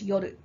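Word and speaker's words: 夜: Now, so when it's on its own, you pronounce it as yoru.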